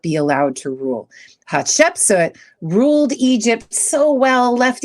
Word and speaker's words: Hatshepsut: How do you pronounce it? Hatshepsut.